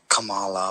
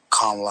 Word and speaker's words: Kamala: Now, most people in the U.S. pronounce it as either Kamala or Kamala Harris, and when Tucker Carlson pronounced it as Kamala Harris, people went batshit crazy and got pissed and corrected them and said it's Kamala Harris. But actually, it's neither. it's actually pronounced Kamala Harris.